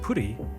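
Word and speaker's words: プリ: Of course, Pri in Japanese is pronounced puri, which incidentally is the Japanese term for pudding.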